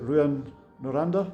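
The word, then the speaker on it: Rouyn-Noranda: My pronunciation is going to be terrible, but was it Ruan Noranda?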